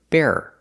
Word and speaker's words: bearer: The first word is bear. It's 1 syllable. And the second word is bearer. Bearer. You have 2 syllables, no matter how fast you say it.